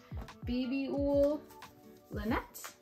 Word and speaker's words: Babyull Lanett: I am knitting it out of Babyull Lanett. That's how you pronounce it.